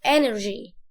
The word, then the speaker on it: energy: ركز في النطق اللي انا بقوله، انا ما بكسرش قوي، ما بقولش inner، لا غلط، energy. اقسمها كده energy.